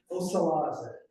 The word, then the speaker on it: Osalaze: So the R's in Mohawk sounds like an L. That's the only difference. So we pronounce Osalaze, which means new beginnings or new year.